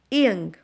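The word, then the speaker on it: 이응: Whenever this O is used before a vowel, it is silent. In this case, O is silent. This ing is silent. But whenever we use it with a consonant, it sounds like ing.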